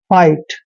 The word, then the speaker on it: fight: देखिए एफ का उच्चारण फ करते हैं और IGHT का उच्चारण आपने आइट करना है, मतलब फाइट।